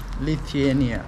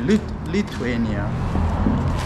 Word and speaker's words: Lithuania: locked welcome welcome to can you pronounce the name lithuania lithiania lithuania lithuania it's actually lithuania and the capital is